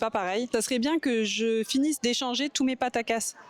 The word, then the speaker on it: Pataca: It would be good if I finish exchanging all my Patacas. Paracasse? Patacasse? I don't even remember how to say it. Pataca.